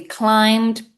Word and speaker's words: climbed: So the B is not very strong at all.